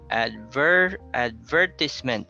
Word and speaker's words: advertisement: Then we have advertisement. So it's on the second syllable, even though they have the same root word.